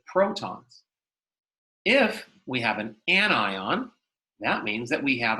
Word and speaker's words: anion: Anions, it's not an anion, it's an anion, are ions that have a negative charge.